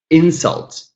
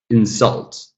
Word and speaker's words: insult: Import, verb, second syllable. Insult, noun. Insult, verb.